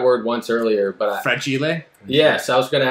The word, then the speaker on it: fragile: once earlier but uh fred chile yes i was going to ask you how you pronounce it fragile it must be italian it's not french people often throw french in there it's italian yes thank